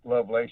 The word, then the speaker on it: Lovelace: Some people say Lovelace, some Lovelace. It is actually Lovelace. You said it right.